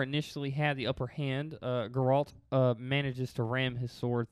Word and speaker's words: Geralt: But we'll start with Gerald of Rivia. Oh no, it's Geralt. Yeah, it's not Geralt. It's Geralt.